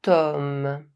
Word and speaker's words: homme: Grand Tall, big, large, great C’est un grand homme. He's a great man. As you can see, the word “homme” starts with the consonant H. But, as H is silent, the word starts with the vowel sound [ɔ].